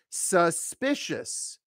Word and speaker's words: suspicious: is asking me for suspicious suspicious it's a three- syllable word stress on the second syllable so you are very